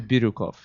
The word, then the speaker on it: Biryukov: k v good luck everybody how can I pronounce it Rin ran birukov okay birov just Google rousan Chell or Google